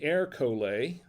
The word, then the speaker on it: Ercole: so this is erica and it says say air collar on it that's how you pronounce it 2019 is a barbara del monferrato